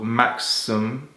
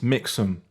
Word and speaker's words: Mixam: Insta um he show me a service called Maxum am I saying it right no no Rick it's mix them sorry guys my dyslexia was kicking in this